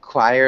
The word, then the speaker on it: choir: choir yeah okay yeah choir again the pronunciation doesn't really look like the way it sounds a choir is just